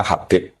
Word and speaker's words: Habib: Itu di harakatnya kitab itu ada yang nulis Hudab. Mana yang benar? Oh nggih, yang benar itu bacanya Habib.